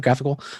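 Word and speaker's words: GraphiQL: we can it spins up an instance of graphical that we can is that how you pronounce it graphical right so we can query our data okay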